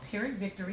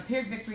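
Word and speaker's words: Pyrrhic: to write that down a perod Victory and I'm g spell it for you and I will spell it wrong I've been saying this for 10 years and I still spell it wrong but I'll get you close enough for Google p h y r r i c and a per Victory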